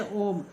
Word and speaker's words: ओम: जैसे ओम, ओ उ म, ओम, इसे ओम कितना समय लगता है उच्चारण में, इसीलिए इसे बोलते हैं प्लुत स्वर।